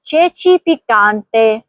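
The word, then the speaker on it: ceci piccanti: देखिए चे छे में दोनों जगह चे ए और छ ए आया है। इसलिए दोनों मर्तबा आवाज चे की होगी। और पिकते में भी ची आ है। इसलिए वहां के की आवाज आएगी। काफ की मतलब सही तलफुज़ होगा। चेची पिकते चे पिकते।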